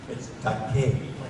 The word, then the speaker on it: Takei: But the Japanese pronunciation of vowels is like the Mediterranean, like in Spanish or Italian or Greek. It's Takei.